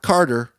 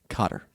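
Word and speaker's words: Kotter: it yeah welcome back Carter not Carter Cotter it's important you spell that right k o t t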